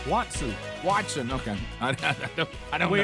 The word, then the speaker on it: Watson: Bubba Watkins, his new book, Up and Down, is ready to go. I said it right that time. You said Watkins. What's his name? Watson.